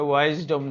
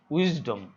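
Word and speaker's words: wisdom: Freedom, উইজডম, এটা ওয়াইজডম নয়, উইজডম, উচ্চারণটা মনে রাখবে, এটা উইজডম।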